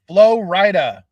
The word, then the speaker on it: Flo Rida: It's Flo Rida.